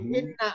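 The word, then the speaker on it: إِنْ: Untuk mengetahui inna atau in ya, kita tengok sebelah kiri. Sebelah kirinya ada lafaz illa. Kalau ada illa, maka bacanya in.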